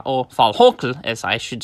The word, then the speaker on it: Valhalla: Now, it seems that the third season of Netflix's Vikings Valhalla, or Valhokl, as I should say, it should be the correct pronunciation, is the last one of them all and should not be renewed for a fourth season.